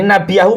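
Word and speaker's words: نبيه: Ah ini nabiyahu maf'ul. Maka dibacanya pakai fathah ini ikhwah ya.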